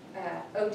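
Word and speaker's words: Oddi: And that is, OD is how you say that. It's OD. It's Schwinger of OD. I think I tend to say ODAD.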